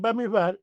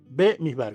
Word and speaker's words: Bamidbar: das cuenta, entonces, que los Ashkenazi dicen Bamidbar y los eh Sefardí dicen Bemidbar, con B. Uno con A y otro con B.